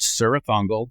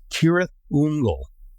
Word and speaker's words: Cirith Ungol: the Rings books many times um we've always pronounced sah fungle the van apparently um according to J.R token the correct pronunciation I don't know if you've ever heard this before it's kirth unle which uh was like I never knew that